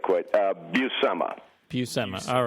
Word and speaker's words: Buscema: 477th time that I've been asked like quite buma buma all right see now now would you